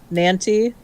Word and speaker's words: nanty: Nanty, Nanty Narking. Nanty. Okay. Nanty. Yeah. Which my brain just realized Nanty rhymes with panty, so have fun with that.